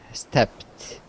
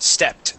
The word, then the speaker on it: stepped: have the word stepped stepped yes ends with a p and we want to uh pronounce that t that e is a t sound stepped one more time stepped